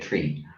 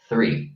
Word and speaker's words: three: saying we say three Irish people say it tree but technically speaking the correct English is three because you pronounce very